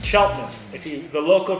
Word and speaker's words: Cheltenham: so when I look at it I say shuttle hand but it's Cheltenham if you the local pronunciation here in Cheltenham and then what uh